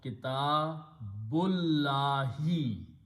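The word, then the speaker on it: كتاب الله: So we don't pronounce the alif in between, we pronounce kitabullahi. Changing the noun sound itself brings the relationship and the meaning of in between.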